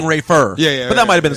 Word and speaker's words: Rayful: know body was seeing rayful Edmonds money and as I thought by the way and as I thought you are saying his name wrong I'm sorry rayful rightful where you're saying Rafer yeah but that might've